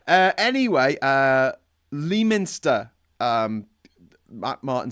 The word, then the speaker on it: Leominster: Anyway, Leominster, Matt Martin saying, is that how you pronounce it? Lemster. Leo Minster. It's pronounced Lemster, I think.